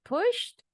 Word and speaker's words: pushed: kedua nih ya bacanya Apakah push dengan bunyi T atau push dengan bunyi D push or push push dengan t i Oke good dibaca kalimatnya he he pushed he pushed the button